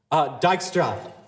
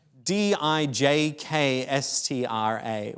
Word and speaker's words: Dijkstra: Dijkstra. Oh, is that how you say it? Yeah. Dijkstra, which is, so it is not on you for failing to pronounce that at all.